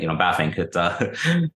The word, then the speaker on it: Bavinck: profess being, and you say it right, actually, Bavinck.